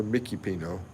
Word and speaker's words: Mikipino: In the Philippines, they pronounce Mikey Pino Mikipino.